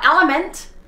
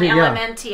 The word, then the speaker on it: LMNT: anything from lmnt or element i think you pronounce an element i think it's a play on words or they've done elementy i think it's element but you guys i'm